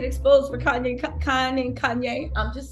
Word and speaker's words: Kanye: conned a certain someone whose name rhymes with any and starts okay oh Kanye Kanye West into believing she